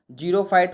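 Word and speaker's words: xerophyte: जीरोफाइट होता है, तो जीरो का हमेशा स्पेलिंग ZERO नहीं होता है, XERO, और XERO जिस चीज़ में लग जाए समझ जाइएगा कि वो सूखा हुआ है। ठीक है, सूखा में XERO यानी कि जेरो।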